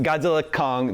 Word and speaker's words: Godzilla x Kong: this it is just Godzilla Kong the new imp the new Empire the x is silent is that right uh